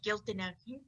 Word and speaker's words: Giltinag: It's pronounced just how it's spelled, Giltinag. All right, Giltinag.